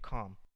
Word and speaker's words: Khaem: it's a tomb of a priestess named Calm. Tom. Okay. So it's spelled Khaem.